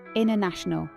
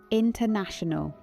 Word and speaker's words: international: In the American culture of clarity, the T often disappears entirely because speed is the priority. Listen. International.